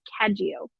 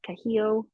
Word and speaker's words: Caggio: and Chrissy caggio and for those of you who don't know how to say the last name it's caggio I know those of us in the US we want to say like kahio NADA CAD you so watch me saying it wrong now or something but